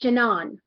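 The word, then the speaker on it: Jennan: include um pronunciation because it turns out the jenin is actually pronounced janon yeah yeah that sounds more uh male I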